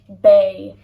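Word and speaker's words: beidh: It changes to bay. So bay means will be.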